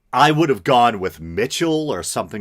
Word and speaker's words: Michel: ass out of myself, I actually hunted around for the proper pronunciation, and the closest I could come is that either Michel or Michel were both acceptable. I would have gone with Mitchell or something like that,